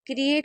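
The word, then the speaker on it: create: आई क्रिएट यहां पर इ ए को ए पढ़ रहे हैं तो क्रिएट हो जाएगा।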